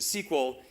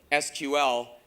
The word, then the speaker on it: SQL: interesting i believe that he himself pronounces it sequel even though it's spelled sql making don the first